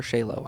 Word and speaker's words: Chaylo: want to go is it Cho or shayo Sho it's a hard CH but I tell people